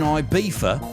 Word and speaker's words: Ibiza: Also, his 1987 birthday party in Ibiza, I'm going to pronounce it like a British person, in Ibiza, was so epic that the hotel still celebrates it every year.